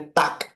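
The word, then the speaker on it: Tag: N Morgan गुन Morgan Germany में अगर कोई भी जर्मन लैंग्वेज में अगर कोई भी वर्ड जी से एंड करता है तो उसको एज अ के प्रोनाउंस करते हैं तो ये हो जाएगा गुट एंड टक गुट एंड टाक जैसे टॉक होता है वैसे टक टाक ओके फिर उसके बाद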